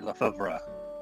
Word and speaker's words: Lefebvre: I have the pronunciation if you want to hear it. Yes, please. It's supposed to be Lefebvre.